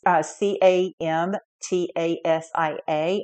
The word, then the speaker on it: Camtasia: You can use things like, I believe it's pronounced Camtasia. It's Camtasia, and this is for recording and editing your videos.